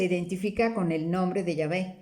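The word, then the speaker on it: Yahveh: nombre propio, su nombre directo, es el de Yahvé, ¿no? Ven que se escribe Y-A-H-V-E-H, Yahvé, pero que es el nombre propio del Dios de Israel.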